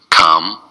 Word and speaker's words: compelling: It's three syllables and the stress is on the second syllable. Compelling.